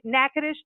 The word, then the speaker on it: Natchitoches: spell this out because how it's spelt out on how I'm saying it is two different things so it's n a TCH I TOC HGS comm so it's like nacho cheese and then we would